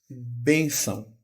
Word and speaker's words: bênção: Veja que eu falo bem, B, bem. O E é fechado. Não é bé, é bem. Então eu indico que é fechado com acento circunflexo. Bênção. E a sílaba tônica é o bem e não são.